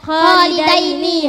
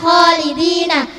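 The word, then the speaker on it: خالدين: Khalidaini hati-hati bukan khalidina.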